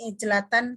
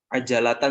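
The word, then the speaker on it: عجلة: Kamu bacanya tadi ijlatan. Coba di kamus apa sih masdarnya? Mahlan. Mahlan masdar. Ijlah atau ajalah? Coba dicek. Oke. Ajalatan saja. Iya.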